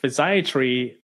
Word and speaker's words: physiatry: is it that that you do yeah so physiatry you you pronounce it correctly is U the same as